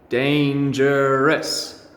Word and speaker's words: dangerous: we've practiced so far dangerous three syllables practice with me dane jur rest dangerous dangerous okay dangerous tells